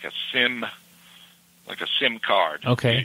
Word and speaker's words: sim: You don't sound the M. It's almost like an N, but you don't really sound. It just dies, you know. You says S-I-M. The M is almost, how do you say that? Fades away? Fades away, exactly.